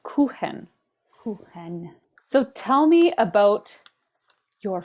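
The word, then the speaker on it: Kuchen: spelled k u c hen it's pronounced it's pronounced kenen so tell me about your FL Ken MIT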